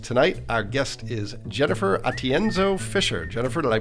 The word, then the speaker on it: Atienzo: Asher marketing podcast tonight Our Guest is Jennifer atienzo Fisher Jennifer did I pronounce that right you got it right thank